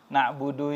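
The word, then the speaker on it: نَعْبُدُ: di sini yang pertama cara baca Jangan sampai salah ya nabudu ini pendek ia kadang banyak yang lupa kadang sampai ke Imam di salat pun iyaka nabudu wa iyaka nastain dipanjangi dua-duanya nabudunya dipanjangi nastainnya dipanjangi maaf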